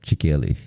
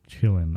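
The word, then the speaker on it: Qilin: I've got it here chickyelli it's like it's so it's spelled q-i-l-i-n but they pronounce it as Chillin I think chillin chillin chillin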